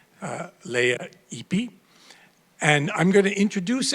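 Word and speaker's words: Lea Ypi: and political progress, was how to pronounce her name properly. Leah Ipi.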